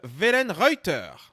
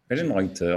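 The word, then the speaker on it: Wellenreuther: euh sur le gardien alors attention la prononciation c'est timon euh Velen Reuter voilà ven rter ven rter donc voilà un Allemand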